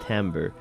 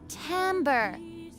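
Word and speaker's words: timbre: want to be that guy, but timber is pronounced tambber. Is it? Is it? Let me see. Okay, that should be it. All right. Let me see. Can you say timber? Timber. Tamber, pronounced like tambber, pronounced like tambber, as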